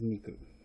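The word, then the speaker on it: 肉: probably heard of zombies before anyway and the pronunciation is niku alright that's a fun little one Pleasant imagery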